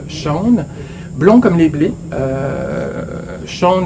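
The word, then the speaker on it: Sjón: Le nouveau très court roman de Shaun, S-J-O-N, qu'on prononce, si je ne me trompe, Shaun, Blond comme les blés.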